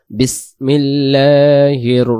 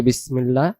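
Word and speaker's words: بسم الله: মিনাশ শাইতানির রাজিম তারপরে বিসমিল্লাহির রাহমানির রাহিম এবার আসেন বিসমিল্লাহ বিসমিল্লাহ এখানে লামের যে খাড়া জবরটা এটাকে এক আলিফ টেনে পড়তে হয় আর বাংলা দিয়ে তো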